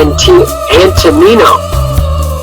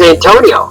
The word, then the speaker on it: Antonino: Although they say Antonino Rocca. Oh, that's how you say it, Antonino. Yeah. I thought he thought it was Antonio.